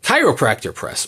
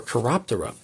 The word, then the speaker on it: Chiroptera: I want to say chiropractor. Chiropractor Press, or Chiroptera Press, if you want to actually pronounce the scientific name for bats correctly.